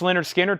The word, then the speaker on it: Lynyrd Skynyrd: Nightmare that's on blue vinyl 36.99 Lynyrd Skynyrd pronounced Lynyrd Skynyrd 2lp 100 analog masters from analog Productions 69.99